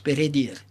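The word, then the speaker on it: Peredur: version galloise de perddure en réalité ça se prononce pdir le percevoil Gallois s'appelle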